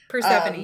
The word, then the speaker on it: Persephone: Persephone, yeah.